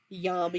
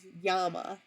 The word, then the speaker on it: llama: My grandmother always said that the Spanish produce, or the Navajo pronounce llama as llama, and that's the correct way to pronounce it. So that's why I always say yama yama, or sometimes say it.